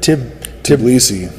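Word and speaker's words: Tbilisi: How do you pronounce that? Tblisi.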